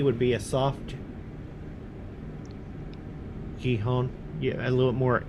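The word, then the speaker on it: Gijón: A soft G, Gijon. Now. Oh, there you go. Like Mark the... just said, in Spanish, most J's are pronounced as a H.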